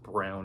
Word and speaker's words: Braun: Again, though, I hate that his name is Braun in my opinion, but it's pronounced Brown apparently.